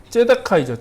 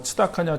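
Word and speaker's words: צדקה: 발음이 여러 가지로 이제 뭐 츠다카냐, 째다카냐, 뭐 발음이 여러 가지인데 그건 남성형이냐, 여성형이냐, 뭐 이렇게 그 변이에 따라서 이제 발음이 달라지는 거라고 생각하시면 되고 보통은 이제 째다카라고 이제 발음을 하는데 그게 이제 공의입니다.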